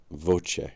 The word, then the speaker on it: voce: As an example, compare the English word voice which begins with closure and ends with closure and the Italian v pronounced voce with its two open vowel sounds.